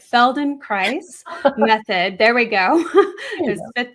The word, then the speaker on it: Feldenkrais: And so this is part of that I'm not going to say it right, Feldenkrais method.